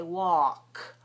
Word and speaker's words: walk: pattern a l k in this pattern a l k the L is silent don't pronounce the L at all so we don't say w we say walk w a walk instead